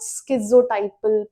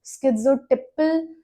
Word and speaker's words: schizotypal: तो this was all about स्किोटाइपल personality disorder. बहुत लोग उसे स्किटिपल पर्सनालिटी डिसऑर्डर प्रोनाउंस करते हैं। But that that's not correct.